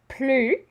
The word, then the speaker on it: plus: Plus, and we don't pronounce that S.